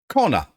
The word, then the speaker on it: Kona: with a c but it still sounds sounds the same Corner hmm But it's a